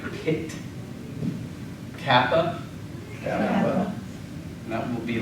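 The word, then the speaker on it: π: a uh I know the math term is pronounced Pi but in Greek we pronounce it P I'm not entirely sure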